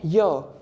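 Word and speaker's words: yeux: Again, Y, eyes, Y-E-U-X. Are we saying it as Y, something like that? No, we are not. We are simply saying Y.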